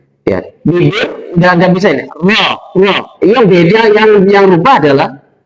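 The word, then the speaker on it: ر: Nah, tafhim ini berarti memakai rahang tebal. Rahang tebal itu berarti rahang kita terbuka. Ya, rahang terbuka. Cara membaca ro tafhim, rahangnya terbuka.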